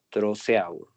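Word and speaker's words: Trousseau: Los signos de Chebostec, falta la e Chebostec y el signo de troceau. Trosea o algo así, ¿no? Trusó. Trusó se le pronuncia.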